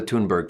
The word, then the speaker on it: Thunberg: All right, so she pronounces her name Thunberg? Thunberg, yeah.